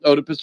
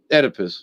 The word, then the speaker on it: Oedipus: mother you know um otipus rex right oedipus excuse me um or oedipus in these days no one knows how to pronounce but anyway still sounds